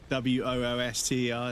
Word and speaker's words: Worcester: Like Worcester. Wooster. That's basically how you say it.